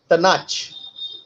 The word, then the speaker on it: Taanach: The third option, Tanach. It's Taanach.